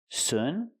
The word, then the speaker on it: soon: The word is pronounced soon. We have to use a long ooh sound like moon. Soon. Noon. It's the long ooh sound. Not uh like good and book. Not soon, but soon.